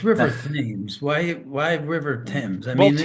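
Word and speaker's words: Thames: Why river Tims? I mean, well, Tims is how you say it in English. Is how you say it in Connecticut. Now, if you're in Connecticut,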